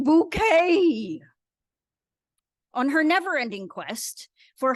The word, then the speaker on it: Bucket: keeping Up Appearances follows the travails of hin bucket or as she says it's pronounced bouquet on her NeverEnding quest for higher Social Status